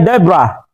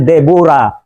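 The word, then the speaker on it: Deborah: iligtas ang Israel ang pangalan po niya ay Debra sa pronunciation natin debora pero sa ang Tamang pronunciation talaga Debra so let's look her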